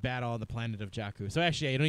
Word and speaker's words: Jakku: Jakku.